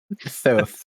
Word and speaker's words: Thoth: How do you pronounce that right? Thoth.